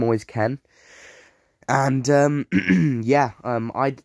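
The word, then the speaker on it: Kean: that is how you say his name always Ken and um yeah um I discard because it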